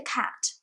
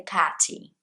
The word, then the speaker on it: cat: brazilians doing a lot they just say the cathy like cat t would be two syllables with a y but there is no y there it's just one syllable so knowing that really